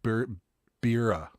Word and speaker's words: Berea: Berea, pronounced Bira.